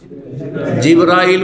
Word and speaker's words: জিব্রাইল: ফেরেশতাদের প্রধান জিব্রাইল বা জিব্রীল দুইভাবে উচ্চারণ করা যেতে পারে।